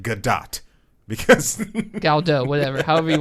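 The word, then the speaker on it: Gadot: It's pronounced Godot because Galdo, whatever, however you want to say it. yeah, no, It's a soft T.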